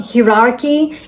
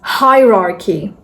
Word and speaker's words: hierarchy: This is not hierarchy, this is hierarchy. Hi-rar-key. Hierarchy.